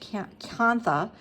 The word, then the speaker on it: kantha: Now, to begin stitching, what I am going to use as my stitch sort of prototype is this kantha stitch. You may also have heard it pronounced kantha.